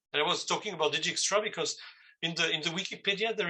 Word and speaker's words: Dijkstra: It's this guttural Dijkstra or something like this.